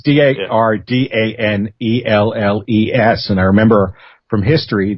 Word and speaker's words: Dardanelles: It's Dardanelles.